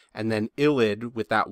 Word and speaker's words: ylide: a v and then illid with that y is pronounced ill like if you were to be sick and then id illid is the name